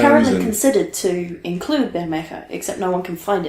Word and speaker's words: Bermeja: How do you pronounce it? Bermeja. Bermeja, yes, and it is considered important on the